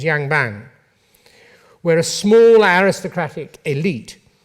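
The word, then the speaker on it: yangban: class-based system known as I think the pronunciation is Yang bang where a small aristocratic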